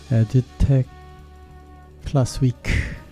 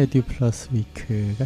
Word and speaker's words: Edu+ Week: 8일부터 이제 코엑스에서 에듀텍 플러스 위크, 정확한 발음은 에듀 플러스 위크가 시작됩니다.